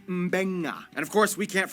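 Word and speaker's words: Beqa: B makes the mb sound.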